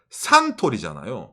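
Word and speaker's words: サントリー: 가운데 있는게 태양처럼 보이죠 태양이 영어로 뭡니까 선 이잖아요 선을 일본에서는 산이라고 발음합니다 상 그리고 사장님 이름이 토리이 신지라 있잖아요 선 토리이 신지로 선토리 산토리 그 그렇죠 아까 담로 유명한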